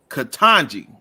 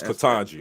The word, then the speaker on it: Ketanji: figure it out myself catanji it's katanji okay kanji brown jackson